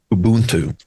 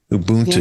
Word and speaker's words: Ubuntu: South Africa called, and help me with the pronunciation. Ubuntu. Ubuntu.